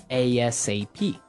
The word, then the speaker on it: ASAP: phrase MH right so it's an acronym and you can say it like a sap or ASAP exactly yeah usually people